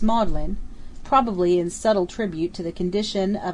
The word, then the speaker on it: Magdalene: the seat of learning Magdalene is pronounced modlin probably in subtle tribute